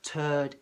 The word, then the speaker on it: turd: Okay, so remember, turd is a poo. Okay, so it's not the word that follows first, second, third. That's third, th. So it's get that tongue between the teeth.